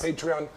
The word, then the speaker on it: Patreon: Is that how it's pronounced? Yes. Patreon.